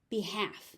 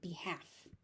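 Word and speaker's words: behalf: Be half. The L disappears completely. Be half.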